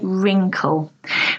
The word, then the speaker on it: wrinkle: wrinkle again this is quite common in English not to pronounce the W so we say wrinkle wrinkle are the fine